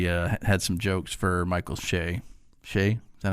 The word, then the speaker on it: Che: She had some jokes for Michael Shea.